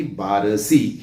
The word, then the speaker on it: बार्शी: लिहिली लिहिली साहजिकच आहे माझं असं मत आहे की बारसी हेच योग्य त्या ठिकाणी आहे कारण का हिंदीमध्ये सुद्धा